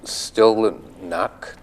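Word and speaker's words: Stille Nacht: about the next song it pronounced still knock it's German and at shilla knocks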